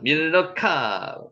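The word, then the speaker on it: מִלְכָּה: 자, 밀르카 밀가를 실제로 읽으면 발음은 밀르카로 되고요.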